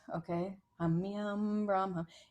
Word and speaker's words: Humme Hum: And you want to pronounce it very specifically, Humme Hum, Brahm Hum. When you put your mouth together for the hum, you want it to vibrate your face, okay? Humme Hum, Brahm Hum.